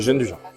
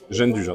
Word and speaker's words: gianduja: Comment on le prononce? Gêne du jar. Ja- Gêne du jar, tout simplement.